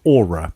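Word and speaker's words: Oura: going up against Aura Aura is that how you say it what do you think Darion yeah you know like your your um your magical Soul thing that hangs around you yeah except it's spelled with an O just to confuse things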